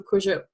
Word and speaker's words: Kurzyp: my website so it's just my name Cruiser comma au and cruise ship is spelled okay you said Y P it's kind